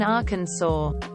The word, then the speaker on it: Arkansas: the S is silent you don't hear anyone pronounce the silent s in Arkansas do you anything when people say